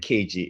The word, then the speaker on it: Keiji: And how do you pronounce the full name? Is it Keiji, or how Yeah, would you? Keiji. Right. So Keiji.